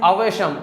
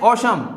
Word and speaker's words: awesome: अब इसको बहुत सारे स्टूडेंट क्या पढ़ते हैं, अवशम, अवशम, लेकिन ये अवशम नहीं है, ये इसको हम क्या पढ़ते हैं, औशम, औशम, ठीक है। यहाँ पर कुछ अक्षर जो है वो साइलेंट का काम करते हैं, ठीक है।